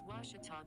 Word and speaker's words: Ouachita: ouachita washington washington how would you pronounce it it's washita baptist university get it right it's water tall people